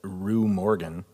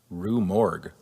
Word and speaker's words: Rue Morgue: According to an interview with Rue Morgan, or what is it? Rue Morgue. Is that how you pronounce Rue it?